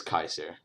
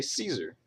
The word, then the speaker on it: Caesar: Julius Caesar right well if you follow the rules I already went over it's simply Julius Kaiser all right Kaiser obviously